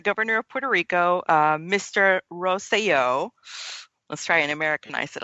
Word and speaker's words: Rosselló: The current governor of Puerto Rico, his name is Ricardo Rosselló, so roll your R's, ladies.